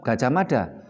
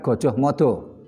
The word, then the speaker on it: Gajah Mada: Membacanya tetap Gajah Mada bukan Gojoh Modo.